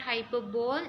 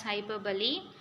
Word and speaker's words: hyperbole: Hyperbole, it is not hyperbole, we have to pronounce it as hyperbole.